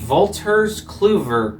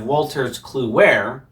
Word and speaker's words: Wolters Kluwer: CT Corporation System, a Wolters Kluwer company. Now, the reason why I say it like that instead of Wolters Kluwer is because, as we'll find out later, that is a Dutch corporation, which owns equally the